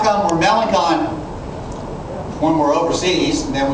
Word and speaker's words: Melancon: looked down on the list he said that's melanon boy and don't you ever so growing up